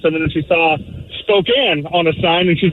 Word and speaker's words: Spokane: the Native American names she wasn't trying to pronounce them and she saw Spokane on a sign and she's like oh spikane